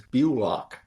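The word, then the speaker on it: Bullock: And my last name is pronounced like you lock the door. It's easy. You pronounce it the way many people pronounce it, but it's Bulock. Bulock. Like you lock the door. Put a B in front of it.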